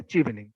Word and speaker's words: Chevening: এটার সঠিক উচ্চারণ হবে চিভেনিং।